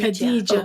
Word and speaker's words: Khadijah: And I don't know if I'll pronounce it properly, but Khadijah, is that how you say her name? Khadijah? Khadijah.